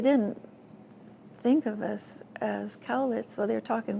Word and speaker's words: Cowlitz: to teach me how to say cowlets in a native Indian dialect. and they would kind of make my throat go through the gyrations that would sound like galic galic.